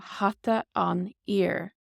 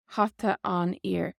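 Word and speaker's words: hata an fhir: If you were saying the man's hat, you would say hata an ear, hata an ear. Basically, this F is silent here, hata an ear, hata an ear, the man's hat.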